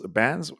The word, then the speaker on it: Bans: your name when you asked me how to pronounce mine your last name buns bands bands bands rosie bands welcome welcome i'm not